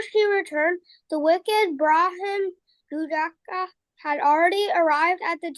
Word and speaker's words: Jujaka: And the name, we pronounce Susaka Pona, right? But the real name is Jujaka, okay?